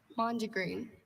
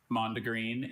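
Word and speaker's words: mondegreen: Mandreen.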